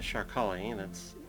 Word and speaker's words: Sharkali: One of them was the the Sharkali, that's an SH sound there.